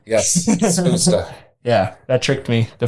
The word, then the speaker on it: Spusta: I originally was saying Spustus. Yeah. I was totally butchering it.